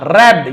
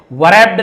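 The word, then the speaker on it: wrapped: यहां पर देखिए WR एक साथ है, बट हम W को नहीं पढ़ेंगे। जैसे राइट लिखते हैं, है ना, रॉन्ग लिखते हैं तो WR एक साथ रहता है, बट हम वहां पे W को नहीं पढ़ते। ऐसे वरैप्ड नहीं पढ़ेगा, रैप्ड, W नहीं पढ़ा जाएगा।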